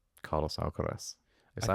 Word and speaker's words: Alcaraz: I don't think you can look past world number 1, Carlos Alcaraz. Is that how you pronounce his name?